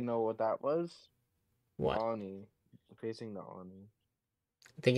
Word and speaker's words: Oni: And also, it's pronounced Oni. Oni.